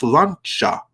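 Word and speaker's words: sláinte: And I do believe it's pronounced, Mags clarified, I think it's pronounced slancha or something like that. It's the Gaelic word for cheers, but in any event, cheers, bottoms up.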